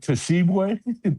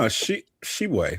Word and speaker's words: Tshiebwe: You talk about Tshiebwe? Is that how you say it? No, Shibwe, right? I thought the T was silent.